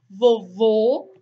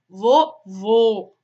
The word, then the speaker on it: vovô: vogal deve ser fechada um exemplo clássico para definir a diferença de pronúncia são as palavrinhas vovô vovó tão muda o acento tão com circunflexo é diferente do agudo a palavrinha vai ser mais fechado vovô alguma agudo vovó né quando o circunflexo